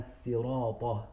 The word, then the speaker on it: صراط: that it is ihdina sirata. He pronounces it with a sin, for example.